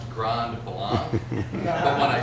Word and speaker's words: Grand Blanc: And I was corrected and told it was Grand Blanc. And I didn't argue my case, but I think the French would have pronounced it.